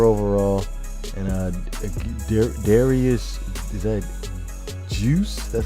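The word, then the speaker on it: Guice: 84 overall, and Darius, is that Juice?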